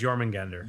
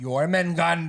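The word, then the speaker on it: Jörmungandr: Jormungandr. Yeah, Yggdrasil is the world tree. Yeah, I know. Jormungandr. Jormungandr. J is Y. What? Nothing. Because it's spelled with a J, like Oh. instead of a Y sound.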